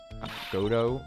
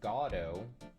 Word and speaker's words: Godot: the chance to simply meet him prosecutor godot goto am i pronounced i'm gonna here we go uh good doe wait here we go let's pull up a wiki pronounce uh pronounce godo oh there's like three there's three pronunciations in